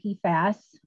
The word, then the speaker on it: PFAS: slide so what are p fast and i i try to say that with a long a p fast um our purim poly